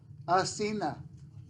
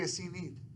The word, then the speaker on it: Asenath: uh it's a girl a Cena or it could also be a c need s got two pronunciations Messina a-s-e-n-a-t-h all right so how